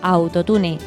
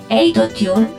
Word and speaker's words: autotune: Se pronuncia como palabra llana, autotune, aunque si se conserva la pronunciación inglesa, autotune, lo recomendable, según la RAE, la Real Academia Española de la Lengua, es escribirla en cursiva.